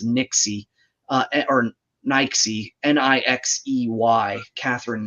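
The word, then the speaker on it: Nixey: to say her name was Catherine Nix but it's Nixie uh or Nike n-i-x-e-y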